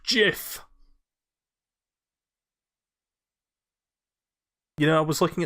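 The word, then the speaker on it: GIF: laugh a couple times it's pronounced jiff you know I was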